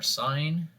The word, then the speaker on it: sine: The three primary trig ratios are sine, often abbreviated just SIN. We still pronounce it sine, but we just write it SIN for short.